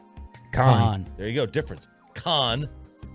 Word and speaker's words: Khan: Khan. Dawn. There's a different way. No, there's no here. I hear the same thing. No. I hear the same syllable. Khan. There's a difference when you slowly try and emphasize it, but in conversation, no.